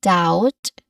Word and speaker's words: doubt: Um it has a silent letter B. it is pronounced like doubt like d a w t something like that if